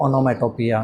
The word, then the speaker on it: onomatopoeia: पिया, पिया के PIA होना चाहिए, लेकिन ऐसा नहीं है, POEIA.